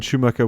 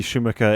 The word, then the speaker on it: Schumacher: I know, but I'm trying to say it in an English way. Oh, okay. But Schumacher is the way the Germans would say it.